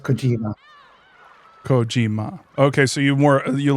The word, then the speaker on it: Kojima: it into American pronunciation you would stress the first syllable and not the second one.